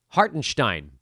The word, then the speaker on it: Hartenstein: A lot of that had to do with Isaiah Hartenstein getting into foul trouble. By the way, he has officially told everyone now that his last name has a Stein sound in it.